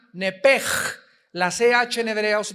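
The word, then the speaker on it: נפש: En Génesis 35 dice el versículo 18, "Y aconteció que al salírsele el nepesh, apúntalo ahí, el alma en el hebreo es nepesh, se pronuncia nepej.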